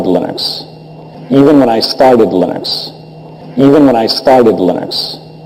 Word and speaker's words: Linux: When I speak English, it's Linus. And I really don't care how people pronounce my name. But Linux is always Linux.